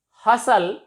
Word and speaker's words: hustle: We can say that T is silent before LE at the end of a word. Nestle, whistle, hustle.